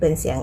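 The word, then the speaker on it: 想: หมิง หมิง แปล ว่า ชื่อ ค่ะ หมิง ตะกี้ เสียง in ก็ คือ อิน ใช่ ไหมม คะ จำ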